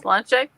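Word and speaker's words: sláinte: Slanche?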